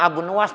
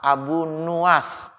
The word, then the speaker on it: Abu Nuwas: doanya Abu nuwas ini Abu Nawas yang bacanya Ilahi lastu orang kadang-kadang bilangnya Abunawas ya Jadi bukan Abu Nawas Abu nuwas nurnya Dido mah kan